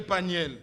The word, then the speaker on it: Peniel: prononce bien si c'est paniel ou paniel. C'est paniel.